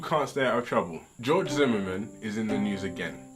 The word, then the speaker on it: George Zimmerman: Now I like fat people, but George Zimmerman, that's his name.